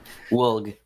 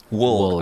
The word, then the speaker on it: Woulg: Woulg. Woulg. All right. So, well, since we're going on to how to pronounce names, I guess we can actually start